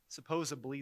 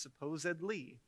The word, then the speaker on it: supposedly: words that I mispronounced supposably is not a word it's supposedly even though we've had